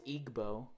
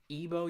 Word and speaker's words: Igbo: and everyone thinks it's Igbo but you don't actually pronounce the G ebo Yuba